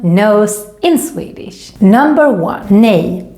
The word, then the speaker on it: nej: no and the swedish word for no is nay very useful when your swedish teenager asks if